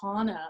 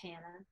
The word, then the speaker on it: Hannah: Because even still, people just say my name like Hanna a lot, or like Hanna, and I'm like, it's just Hannah.